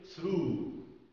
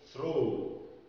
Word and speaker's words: through: كلمة through، through يعني خلال، لو قلناها غلط هنقول throw، throw يعني يرمي أو يلقي.